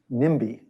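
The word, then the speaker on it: NIMBY: the CL climate debate not in my backyard sometimes pronounced nimi and it's a sad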